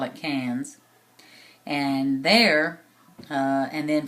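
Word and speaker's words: Cairns: from there to uh cans it's spelled c a i r NS but they they pronounce it cans kind of like the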